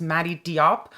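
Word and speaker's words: Mati Diop: this is from director I believe her name is pronounced Madi Diop she got the Grand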